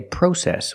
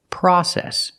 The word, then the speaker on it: process: how sewing is pronounced in America we don't say process we say process use the short a sound like hot and stop the open Sound ah PR process we say process in